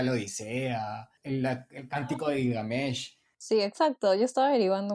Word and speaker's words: Gilgamesh: Y luego del Gigamet, ¿cómo se pronuncia? Gilgamesh. Gilgamesh.